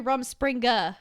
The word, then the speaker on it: Rumspringa: have an audience I was right it's actually Rumspringa is there is there a thing that you